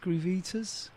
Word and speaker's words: Groovitas: And also, is it Groovitas? Groovitas. Groovitas. Yeah. I wasn't quite sure how to say it exactly, but it's